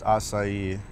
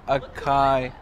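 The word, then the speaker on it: açaí: Yeah, but it has a little squiggly thing under it, because it's like Spanish or something. Definitely not Spanish, dude. It's acai bowl. Acai. Bro, if they wanted people to say acai, they should have spelled it with an S.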